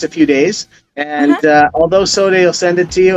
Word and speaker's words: SODEH: SODEH. Okay. Yeah. I wasn't sure if I was going to pronounce it correctly.